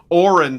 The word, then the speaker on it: Orin: And then I got one from Aaron from Ohio for 20 bucks. Orin, sorry, Orin from Ohio because he has in parenthesis, the spelling, the pronunciation rather, the phonetics.